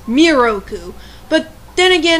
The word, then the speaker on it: Miroku: weeny mistake with moku they have his name pronounced moroku when it's miroku but then again it's